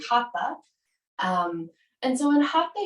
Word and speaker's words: Hatha: you may also hear it pronounced as Hatha in studios which is fine too um but in the Sanskrit it's actually Hatha um and so in